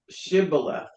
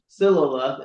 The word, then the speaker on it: Shibboleth: The Ephraimites could not pronounce the word the sound sh, saying Siloleth instead of Shibboleth.